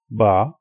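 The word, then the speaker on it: ب: The first one, it has 1 dot at the bottom and it is called Ba, Ba.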